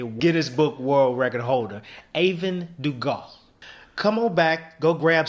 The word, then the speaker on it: Aevin Dugas: I think I know how to pronounce it right. Aevin Dugas. Aevin Dugas, the S pilot.